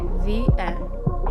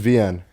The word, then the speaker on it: Vien: Okay, VN. Just Shut the fuck up, Siri. Good to meet you too, Siri. so it's just VN.